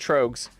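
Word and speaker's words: Tröegs: If you Google it, it's pronounced Trogs. I'm almost positive it's pronounced Trogs.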